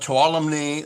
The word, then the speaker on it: Tuolumne: all went trump trump trump and uh mariposa tuolumne that's how you pronounce it calaveras amador placer uh and all